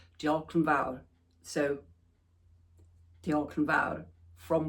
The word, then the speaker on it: diolch yn fawr: said, and I hope I get this right, diolch yn fawr.